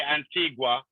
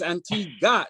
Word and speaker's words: Antigua: I was gonna say Antigua, but I knew that would piss you off, so I just let it go. Absolutely. In fact, it wouldn't be correct. It's Antigua. The U is silent.